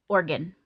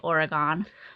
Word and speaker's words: Oregon: So, pronounce it Oregon. Oregon, okay. Yeah, that's how the locals will say the word. Ah, okay. Yeah, you definitely sound like a tourist when you say Oregon.